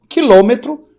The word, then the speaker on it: quilômetro: Recordando, quilômetro, que é proparoxítona, decímetro, centímetro e milímetro.